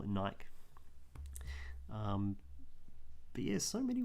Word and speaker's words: Nike: one day and said it's pronounced nike like like spikey so he sort of said it deadpan kind of thing it's almost as if it was a strict defense to call it nike um but yeah so